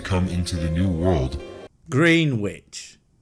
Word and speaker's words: Greenwich: into the new world Greenwich oh it's pronounced Greenwich he Philistine he discovered